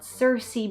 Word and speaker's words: Circe: review today i'm going to be talking about cersei by madeleine miller and according to what i checked this is how you pronounce the title so this book came out